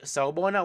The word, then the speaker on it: Sawubona: Na, if you want to say it correctly and you don't want to sound like you silly or trying to, force it. You want to have the correct accent. Sawubona. As you can see below here, I've indicated for you the pronunciation of this word.